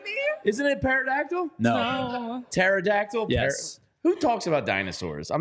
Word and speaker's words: pterodactyl: are you kidding me isn't it par no pterodactyl who talks about dinosaurs I'm not six have